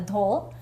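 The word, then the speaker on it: dhol: We see a lot of the dole.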